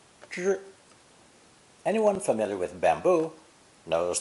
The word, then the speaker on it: 支: Today's new character is pronounced first tone, zhi, zhi.